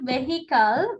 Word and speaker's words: vehicle: It's not vehicle. Vehicle. Okay. H is silent.